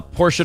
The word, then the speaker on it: Portia: not advice disgusting uh portia de rump says it's actually my actual name and it's pronounced like the car well then i want